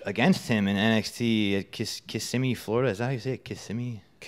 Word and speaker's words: Kissimmee: So a few months before that, I was lucky enough to have a match against him in NXT at Kissimmee, Florida.